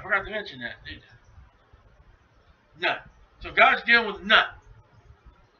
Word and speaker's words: Nut: I'll spell it to you. Here we go. Ready? N-U-T.